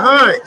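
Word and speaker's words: Hinds: My last name is Hines, H-I-N-D-S, right? But it's German, so a lot of people don't know that the spelling Heinz is either H-I-N-E-S.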